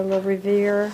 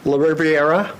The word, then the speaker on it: La Riviera: change order for a little revere the 6987 did we talk about that one yet uh it's la riviera okay that's the pronunciation thank you for the